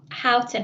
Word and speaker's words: Houghton: So we've got another one, Councillor Scott Houghton. Have I said that correctly? I realise I've never asked you how to pronounce your surname. I actually pronounce it Horton because I'm from up north. Horton.